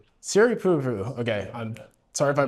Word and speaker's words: Siripurapu: And then, how do you pronounce your last name? Uh, Siri Purupu. Siri Pu.